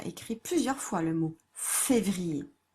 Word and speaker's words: février: On l'a déjà écrit plusieurs fois, le mot février. Février. Donc yé.